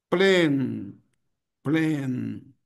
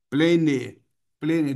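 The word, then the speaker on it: plane: Plen. Plen. Ok. Plene, plene. Duas sílabas. Não faça isso, ó. Apenas uma sílaba.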